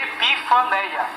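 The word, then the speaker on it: ἐπιφάνεια: Ela se lê epifaneia.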